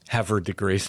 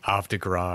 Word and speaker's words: Havre de Grace: My favorite example of that is Havre de Grace, Maryland. Yeah, that's technically the right way to say it, and we are not going to pronounce it in any way close to what the French pronunciation should be, but it isn't Havre de Grace. It's like Havre de Gras or something, right?